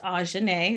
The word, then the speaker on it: Ajhanai: As y'all learned today, my name is Ajhanai, pronounced Ajhanai. It's not too hard.